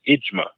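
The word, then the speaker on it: إجماع: consensus of the religious Scholars is known as imma imma J M A imma that's what they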